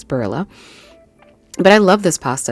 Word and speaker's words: Barilla: I pronounce it Barilla because the double L in Spanish sounds like an English J, but I know that it's Barilla.